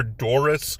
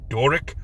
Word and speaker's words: Doric: want to call her Doris but it's a c not an S it is Doric I even had to